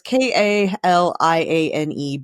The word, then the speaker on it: Kaliane: I think it's Kalani Bradley. Maybe it's Bradley. It's Kaliane Bradley.